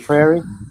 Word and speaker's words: prairie: Prairie.